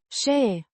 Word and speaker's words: Și: Și. A conjunction meaning and. Pronounced Șe. like the she in she, Să.